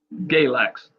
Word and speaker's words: Galax: Galax.